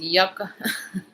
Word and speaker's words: yuca: It's yuca in English too, pronounced yucca.